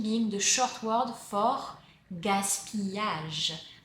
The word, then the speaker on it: gaspillage: Gaspi being the short word for gaspillage. The double L is pronounced y. Gaspillage.